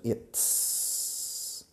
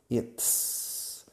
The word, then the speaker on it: it's: De it is, contraemos en it's. Fijaos en la pronunciación. It's. Es un sonido complicado que no tenéis en castellano. It's.